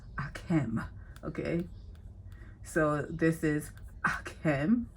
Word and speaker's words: Akem: Okay, it's not pronounced Akeem, it's pronounced Akem.